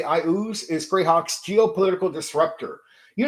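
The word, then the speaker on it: Iuz: Why I ooze matters. Pronounced 3 different ways that I know of: e-ooze, I ooze like me, or a-ooze. I say I ooze.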